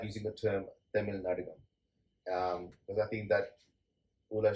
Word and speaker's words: Tamil Nadagam: So I would say it's Tamil Nadagam. Okay, so listeners, there you go. The correct way of pronouncing and also what it means.